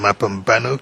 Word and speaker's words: Mapambano: Okay, and Mapambano, can you help spell that? M-A, you say? Mapambano. M-A-P-A. P-A. And then N-O. That's M-A-P-A B-A-N-O, you say?